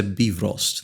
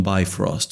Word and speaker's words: Bifrost: E a ponte entre mundos é Bifrost, não Bifrost.